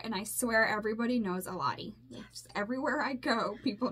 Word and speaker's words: Elady: So, I mean, it's Eladi, and it's spelled like Elady. E-L-A-D-Y. I don't think there's anybody else with my name.